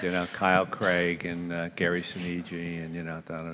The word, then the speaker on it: Sinise: screenwriter and says, well, how do you pronounce that? And I said, Gary Sinise. He said, oh, thank you very much. And then the movie, Gary Sonji.